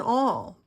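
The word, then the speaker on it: awl: held firmly into piece place this is an all uh a it's spelled a WL it is a pokey tool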